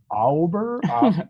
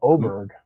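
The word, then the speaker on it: Åberg: A with the circle over the A, and he was like Auberg, and I was like, no, Oberg. So he looked it up and he's like, oh yeah, it's Oberg.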